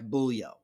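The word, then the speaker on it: Bujło: And taking on Max Jimenez on a Marek Bulyo.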